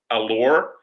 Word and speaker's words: Allar: is the correct spelling allure i think he told me that phonetically is correct hopefully i sure hope so bob because i've been pronouncing it wrong all week i i just rechecked my text you said the emphasis is on the second the second part of uh the spelling i'm going to look